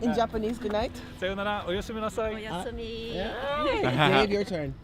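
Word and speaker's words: おやすみなさい: Sayonara, oyasumi nasai. Oyasumi. Dave, your turn. Osemi?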